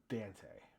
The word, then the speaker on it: Dante: In the audio book for the Blood Angels, they pronounce his name Dante. I don't think I like that, so I'm going with Dante.